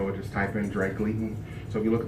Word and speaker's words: Gleaton: So I did, and it's Gleaton. Okay. And I put an R in there, and I'm sorry.